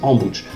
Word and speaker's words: Ambositra: Après Antsirabe, nous reprenons la route vers le sud et nous rendons à Ambouch, qui s'écrit Ambositra, mais qu'on prononce Ambouch.